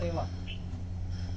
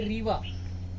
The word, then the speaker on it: Reva: उनका दूसरा नाम है रेवा। कहीं कंफ्यूजन होता है, एक शहर है रीवा, हाँ, आई है उसमें रीवा, ये है रेवा।